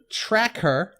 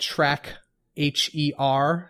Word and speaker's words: Trackher: It's called Trackher. It's spelled track, H-E-R, so it's like tracker, but Trackher.